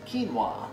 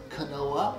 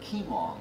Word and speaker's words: quinoa: one cup of quinoa it's pronounced quinoa not canola but quinoa one question i get